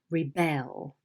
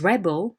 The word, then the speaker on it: rebel: Rebel. So the noun is rebel and the verb is rebel.